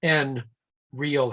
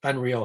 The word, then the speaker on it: Nreal: unreal uh headset and just to pronounce that correctly it is the letter n real headset is not like unreal headset it's just letter